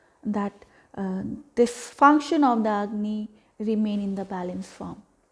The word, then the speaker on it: Agni: to focus on that this function of the agni remain in the balance form and it's again